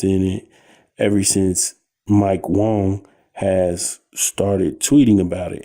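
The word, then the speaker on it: Wang: it ever since Mike Wong has started tweeting about it, and his name is pronounced Wong.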